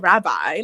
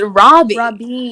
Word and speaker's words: Robbie: I was like, no, and I'm like, it's so easy to pronounce. It's literally an English name at the end. It's Robbie. We have Robbies in America.